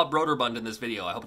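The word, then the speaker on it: Brøderbund: I believe it's pronounced broader Bond because the O has like a line through it like a stroke so instead of it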